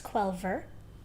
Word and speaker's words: Quelver: You say it like Quell, or if you're saying the full name, it's Quelver.